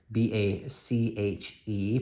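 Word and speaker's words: Bache: The back side of this bar may look familiar to you because the Pioneer Mint also made the Bach bars, B-A-C-H-E, pronounced Bach.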